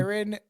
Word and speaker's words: Jaron: It's Karen with a J.